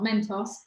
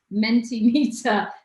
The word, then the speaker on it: Mentimeter: they're gonna go through the mentee mentee not mentos mentee meter today that we actually